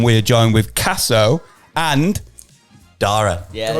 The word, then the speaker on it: Daire: Fuck, man, you get Daire, Diara, diarrhea. I've had everything.